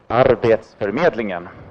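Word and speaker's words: Arbetsförmedlingen: the agency that I work for which is pronounced our dates for meddling ham and then I will talk a little bit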